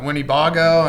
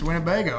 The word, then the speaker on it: Winnebago: And, I was calling it Winnebago, and it's Winnebago. Right?